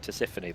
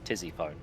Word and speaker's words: Tisiphone: So now I look at it, I know it's pronounced Tisiphone, but I just see it spelt Tizzyphone.